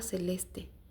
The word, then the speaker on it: Celeste: Se llamaba Celeste, que se pronuncia con ch, como violonchelo.